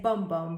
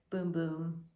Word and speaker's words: Bum Bum: here a Brazilian boom boom cream I'd say bum bum but no it's actually pronounced as a boom boom absorbs so quick smells gorgeous vitamin C Scrub